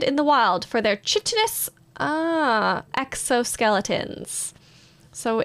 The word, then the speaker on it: chitin: a CH in it and I think it's pronounced ch but it reminds me of this I don't know chiral chitin oh it's chitin chitin chitin chitin soft chitin soft chitin um